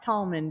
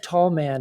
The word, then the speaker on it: Tallman: time oh wow so is it pronounced Tallman because we keep saying tall man is it wrong I think tall man is two words okay so we should be saying Tallman Tallman say it faster Tallman tommen yep yep